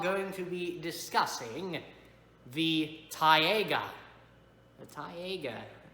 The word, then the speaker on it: taiga: For you see, the next time we are going to be discussing the taiga. The taiga. Taiga. Sounds like the word tiger.